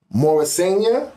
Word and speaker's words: Morrisania: Morrisania? Yeah. Am I saying it right? Yeah.